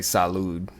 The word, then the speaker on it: salud: sha the language in Zimbabwe Spanish they say salude Salud in in Spanish uh Sante in French